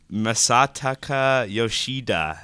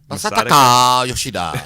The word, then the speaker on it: Masataka Yoshida: Masataka Yoshida. Yeah. Masataka Yoshida.